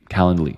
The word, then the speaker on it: Calendly: So it kind of is spelled like calendar, but instead of der, it's Lee. Calendly.